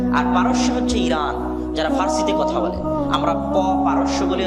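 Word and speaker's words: فارس: আর পারস্য হচ্ছে ইরান, যারা ফার্সিতে কথা বলে। আমরা পারস্য বলি, আর এটা ফার্সি, ফুরস। আরবিতেও ফারিস নামে তাদের কথা এসেছে, আরবিতে কোনো পর উচ্চারণ নেই, সব ফারিস।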